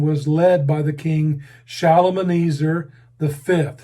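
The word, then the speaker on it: Shalmaneser: and the destruction was led by the king shalom and easer the fifth shalomeneser is spelled s-h-a-l-m-a shalom and easer s-h-a s-h-a-l m-a-n-e-s-e-r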